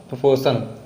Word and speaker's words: proportion: Ratio and प्रोपोर्शन इसमें जो है इस वर्ड में आर जो है वो साइलेंट होगा, इसको हम इसीलिए पढ़ते हैं प्रोपोर्शन।